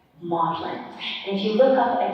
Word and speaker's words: Magdalene: that the very mean Magdalene and the older English is pronounced wobblin maudlin and you look up